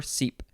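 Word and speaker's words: cèpe: over the first e you can pronounce it sep or seep oh you can also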